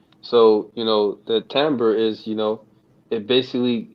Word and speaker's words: timbre: the the the word is temp timbre oh timber okay yeah uh i think it's t-i-m-d-r-e oh timber yeah but they say timbre it pronounced as timbre okay let's see here timber uh what is